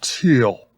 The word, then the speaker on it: Thiel: team thicks you know even though it's spelled with a th his name is pronounced like the color peter teal we're gonna have to